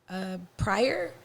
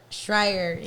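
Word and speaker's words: Shirer: I can't pronounce her name, but Pryor? Schreier.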